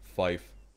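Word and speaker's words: five: 3, 5, and 9 pronounced phonetically is tree, fife, niner.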